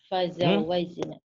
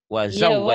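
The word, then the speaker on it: وزوجنا: Fazawajna. Wa, bukan fa itu wa. Wazawajna.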